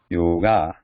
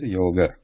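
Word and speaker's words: योग: But in English, when it has been imported into English, in all over it has been being pronounced as yoga. But in Sanskrit, original word is yoga.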